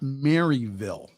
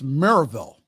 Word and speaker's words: Maryville: still planned for Saturday at now it's not Maryville okay that's not how the locals pronounce it it's Merrillville Maryville if you pronounce it quickly Maribel at